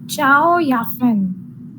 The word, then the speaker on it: Chao Yafen: Next is Chao Yafen. This is Ciao. pronounced as Chao Yafen. I don't know. This is a Chinese name, that's why it is pronounced like that.